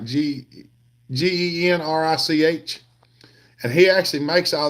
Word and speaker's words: Genrich: On Facebook, there's a guy named Brian Genrick. He's on Hopper Nation, and he's on my friends list too. It's spelled Genrich, like Genrich, and he actually makes all those gaskets.